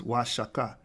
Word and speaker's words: Huachuca: Spanish Cadiz is for now shut the correct pronunciation of Y chakra is Huachuca denoting wages are higher and there's the Hebrew